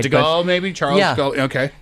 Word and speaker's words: Charles de Gaulle: I'm not sure I'm pronouncing the name right. De but- Gaulle, maybe? Charles de Gaulle? Okay. Charles de Gaulle.